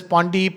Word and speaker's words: Pandey: Pandey, then when the doctor is gone and the goes into a 6 and Pandey is pronounced as Pondi, Ponds, whatever it is, then I have some people are very rigid about it.